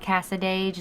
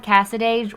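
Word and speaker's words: Cassadaga: it said someone called cassadage is that how you am i saying it right yeah okay i mean that's how i would say it um that called cassadage where mayberry meets the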